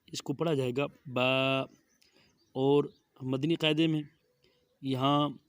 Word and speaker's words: ب: لکھا ہوا ہوتا ہے حروف مفردات کو تجوید و قرأت کے مطابق عربی لہجہ میں ادا، اردو تلفظ سے پرہیز کریں، یعنی بے، تے، ثے، ہے، خے، توئیں، زوئیں وغیرہ ہرگز نہ پڑھیں، بلکہ با، تا، ثا، حا، خا، طو، ظا پڑھیں۔ تو اسی طرح جب با